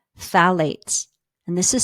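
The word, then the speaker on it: phthalates: much better now let's talk about something called phalates and this is spelled p h t h a l a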